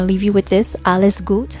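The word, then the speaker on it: alles gut: leave you with this alice goot which is a german phrase for all is good okay it's spelled a-l-l-e-s that's alice goot g-u-t alice goot thank you so much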